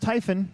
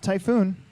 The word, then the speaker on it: Typhon: with the Typhon remember it's pronounced Typhon not typhoon a typhoon has two o's all right so Ryan